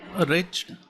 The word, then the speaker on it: wretched: Wretched, it's an adjective, and we need to remember that the W is the silent one, so it should be pronounced as wretched.